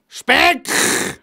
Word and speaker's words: Speck: Im Hochdeutschen wird er Speck ausgesprochen. Das heißt Speck!